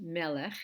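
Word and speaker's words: מלך: probably know that the word for King is pronounced Melech in a noun form and this is the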